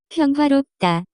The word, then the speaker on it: 평화롭다: The pronunciation of this word is closer to. 평화롭다.